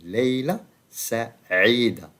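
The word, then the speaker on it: ليلة سعيدة: So pay attention to the pronunciation. Leila Sa'ida, A also. And here also we use Ain, Ain, which is the famous letter in Arabic standards. Ain, Leila Sa'ida.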